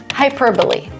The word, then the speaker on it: hyperbole: Hyperbole. So it's almost like an adverb, hyperbole, but it's a noun.